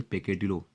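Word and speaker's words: peccadillo: हालांकि इसे आप बोलेंगे पेकेडिलो, ये शुद्ध प्रोनाउंसिएशन है, बट आप इसे बोलेंगे पक्का दिल।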